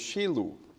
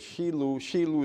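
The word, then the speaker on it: Shiloh: and the word is Shilu. We know it as Shilu, but Shilu is how you say it in Hebrew, Shilu.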